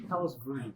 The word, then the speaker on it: Palos Verdes: It should be Palos Verdes, not Verde.